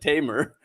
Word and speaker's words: Tamer: He's like, you're no Tamer. I'm like, yeah, well, I pronounce it Tamer.